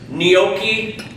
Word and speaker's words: gnocchi: Gnocchi, N-Y-O-O-K-E-Y. I guess if you're phonetically going to spell it.